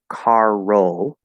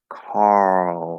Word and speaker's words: Carl: syllable there because um it's not car roll right it's carl so they need to